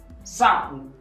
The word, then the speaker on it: sapo: Em seguida, temos sapo. Primeira sílaba é sa. Segunda sílaba não se lê pó, pu. Porque eu disse que quando temos o no fim da palavra, sem acento, lê-se u.